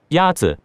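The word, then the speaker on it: 鸭子: Ya-zi is pronounced with a first tone. In Mandarin, there are four tones, which are essential to distinguish the meaning of words. The first tone is a high-level tone.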